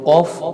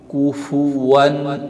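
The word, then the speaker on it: كفوا: পাতলা হবে ওয়ালাম ইয়াকুল্লাহু দ্বিতীয় আরেকটা ভুল হচ্ছে কুফুয়ান আহাদ কা পেশ কু ফা পেশ কুফু কুফুয়ান আহাদ আমরা এখানে পড়ে থাকি কুফ কুফ এটা হবে ভুল শুদ্ধটা হবে কুফুয়ান আহাদ ওয়ালাম ইয়াকুল্লাহু কুফুয়ান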